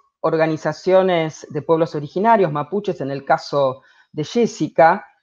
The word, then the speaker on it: mapuche: palabra declinen plural entonces la s no es necesaria porque mapuche gente es tierra y che gente entonces buchert es gente de la tierra en un sentido amplio entonces se pronuncia sin la letra s respecto a la pregunta